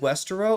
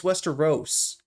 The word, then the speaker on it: Westeros: I said Westerro. Oh, it's Westeros.